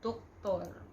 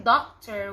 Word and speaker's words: doktor: And instead of pronouncing doctor, we pronounce it as doktor. Doktor.